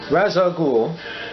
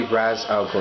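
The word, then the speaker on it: Ra's al Ghul: Trio versus The Mandarin razag Gul is it ra I think it's actually Raz alul I think that's how you pronounce his name but razag there a terrible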